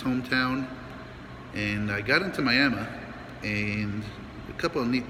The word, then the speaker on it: Miami: I made it into Miami, spelled like Miami, but pronounced Miami, Oklahoma.